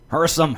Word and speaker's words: Hersam: Hersome. Hersome. No H in there. No second H if I can say it right, Barbara.